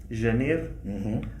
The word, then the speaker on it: Janeiro: In the South they say “ê”, “Janêro”. We say Janeiro (January); in the North some say EI, some say ÊI; in Alentejo I don't know if they say Ê or ÊI.